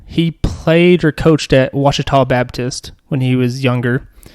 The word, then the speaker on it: Ouachita: I say Ouachita because you wouldn't guess it, but Ouachita is spelled Ouachita.